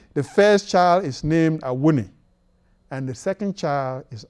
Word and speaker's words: Awuni: I-W-N-I phonetically should be pronounced Awuni.